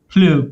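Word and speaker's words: Pleurs: Yeah, Jupiter Plure, because it's like French. I don't know French, so I wouldn't say like, I wouldn't give you like an accurate like pronunciation, but it's like Plure, something Tony like that. knows French. Plue, like tears, I think.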